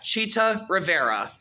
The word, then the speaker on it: Chita Rivera: Yeah, did I pronounce it right? Yeah, Chita Rivera. Yeah, Chita Rivera, who is basically the actress from the film called Sweet Chariot.